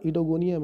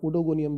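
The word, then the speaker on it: Oedogonium: इस वंश का सही उच्चारण इडोगोनियम है, फिर भी अधिक प्रचलन के कारण उडोगोनियम भी इसको यूज़ किया जाता है।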